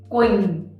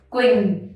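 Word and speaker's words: Quỳnh: have is queen so this one q u is an is pretty much the similar sound in english and then we have in the y in vietnamese and the same as the i so we have queen downtown next one we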